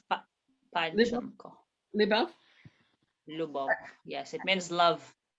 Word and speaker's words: Любовь: Now, this will you pronounce it's Любовь. Lyubov? Am I saying it Yes. right? Okay. Любовь Lyubov. Панченко. Lyubov?